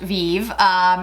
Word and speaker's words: Vieve: Now, I think it's pronounced Vieve. It's after the person who started is Jamie Genevieve, who is a very large influencer, has a social media platform.